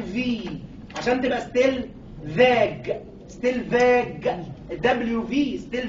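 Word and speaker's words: Stellwag: اللي وصف الكلام ده باشمهندس اسمه ستيل فاج، وعشان ما تغلطيش في نطق اسمه سميناها تي 2 في عشان تبقى ستيل فاج.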